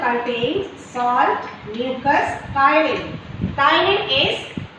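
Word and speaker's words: ptyalin: That 1% contains salt, mucus, chyline. Chyline is, the P is silent here, we should pronounce it as chyline, and it is also called as salivary amylase.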